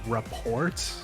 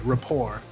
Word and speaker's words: rapport: part of the quarantined report. Hold on, let me type pronunciation. Rapport. Okay, Rapport. Yes, this was part of the quarantine Rapport. I hope you guys all enjoyed it.